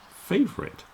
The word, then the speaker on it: favorite: one and it's favorite favorite the stress is on the beginning fave now some people might do it as three syllables but when the first